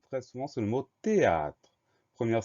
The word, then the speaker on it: théâtre: souvent, c'est le mot théâtre. Première syllabe T, on va l'écrire T-H, E accent aigu. Donc là, on a une lettre muette, ce H au début du mot.